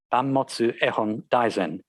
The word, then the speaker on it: Banmotsu Ehon Daizen: There is evidence that the title in Japanese would have been pronounced Banmotsu Ehon Daizen in Hokusai's day.